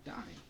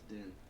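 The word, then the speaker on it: Dyne: That's how you pronounce his name. Dine. Okay. I always thought it was Den.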